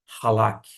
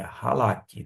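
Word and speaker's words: חלק: De modo que a palavra, em termos de transliteração, é esta mesmo, halak, que significa dividido, ok? É halak.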